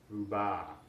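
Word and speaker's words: ربع: Quarter is pronounced ruba, ruba.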